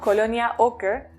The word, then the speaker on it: Colonia Hocker: como decimos en castellano, "Colonia Ocker", porque la H no la pronunciamos.